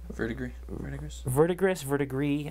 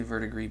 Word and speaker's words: verdigris: I didn't expect to put this much verdigris. I don't know what it. How do you pronounce it? How do you pronounce it, Joel? You're French. I say verdigris, but that's just me.